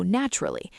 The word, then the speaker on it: natural: Not, nat, al, with 3 equal syllables. Natural, 2 syllables. That sounds really natural. Natural. 2 syllables, not 3.